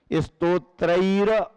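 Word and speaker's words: स्तोत्रैर्: स्तोत्रैर, अगले शब्द पर जो राकी रेफ ऊपर गई है उसको पहले शब्द से जोड़ना पड़ता है, तब उच्चारण सही माना जाता है।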